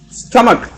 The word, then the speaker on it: stomach: It's stomach. STUMAK.